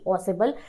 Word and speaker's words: Ausable: दूसरे है ऑजेबल, एक सीक्रेट एजेंट, AUSABLE ऑसेबल, और तीसरा है मैक्स, मैक्स की स्पेलिंग तो सिंपल है MAX मैक्स, ये एक और सीक्रेट एजेंट है।